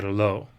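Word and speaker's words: לו: that was written, asher lo. This was written. And this word means not. This means to him. Oh, wait. You can't see my mouse. I forgot. This means to him and is pronounced lo.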